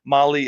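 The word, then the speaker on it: Mahle: And for everyone listening to this, Molly is spelled m ah l e.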